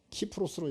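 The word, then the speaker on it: Κύπρος: 구브로, 키프로스, 영어로는 사이프러스라고 읽는데 그리스, 즉 그 당시 헬라어로 읽을 때는 키프로스로 읽었습니다. 그래서 그 키프로스 섬으로도 가고, 또 많은 사람들은 안디옥으로 왔다 그랬습니다.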